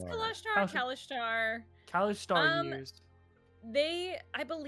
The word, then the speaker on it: Kalashtar: It's Kalashtar, Kalashtar.